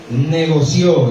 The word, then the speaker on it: negoció: Fue y negoció. Diga fuerte, negoció. Ahí tiene acento en la hoja.